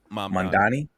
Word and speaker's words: Mamdani: Uh Mandani. Mandani. Just want to pronounce that.